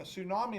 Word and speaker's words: tsunami: of class um a tsunami is spelled t-s-u-n-a-m-i so it has a silent t it's not called a two tsunami it's just called a tsunami yep yep the t